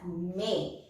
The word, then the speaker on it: mes: And then again for plural, we will write irrespective of the gender, we will write MES, pronounced as may.